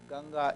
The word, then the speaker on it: Ganga: about to play you can see gen's River ganga is the right pronunciation Floy from his J from his it